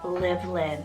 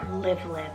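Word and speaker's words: Livlyn: Lord is exalted then I added the name livelin it's spelled l-i-v l-y-n livelin now this one I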